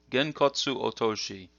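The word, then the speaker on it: 拳骨落とし: So the first one here is pronounced Genkotsu Otoshi. Genkotsu Otoshi.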